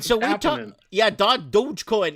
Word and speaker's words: Dogecoin: right so yeah dog dogecoin is it douchecoin or dodgecoin it's dogecoin oh i pronounced it wrong the other day i made a couple of people upset oh i was calling it dodgecoin right so i got